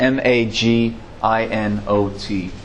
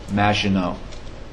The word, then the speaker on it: Maginot: It's a French term. It's spelled Maginot, Maginot. They built this thing up in the 1800s even.